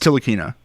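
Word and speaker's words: Ntilikina: what is it yes it's tiina it's the end is silent Frenchie uh so it's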